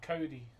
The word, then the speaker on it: Cody: Pronounced like the name Cody. Like off Surf's Up.